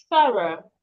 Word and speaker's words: thorough: it sounds Then the next word we have thorough.